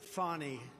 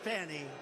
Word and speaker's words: Fani: It's all, look at Fani, F-A-N-I. It should be pronounced Fanny. Fanny. Fani. Fani. They say she gets very upset if you call her Fanny.